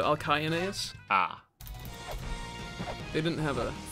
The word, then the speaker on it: Alcyoneus: Well, C's are pronounced like K, so Alcyoneus.